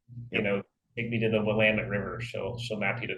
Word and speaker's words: Willamette: My mom to this day still says Willamette instead of Willamette, and I think that's what Siri says too. If you say, take me to the Willamette River, she'll map you to the Willamette.